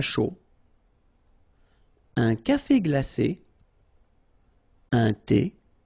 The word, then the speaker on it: chaud: Un chocolat chaud. Remember, C-H, ch, chaud. Chocolat. And then final T not pronounced. Chaud. Final D not pronounced.